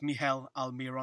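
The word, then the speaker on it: Miguel Almirón: pronunciation we've been told Mel aliron Mel aliron is that right the g is silent the g is silent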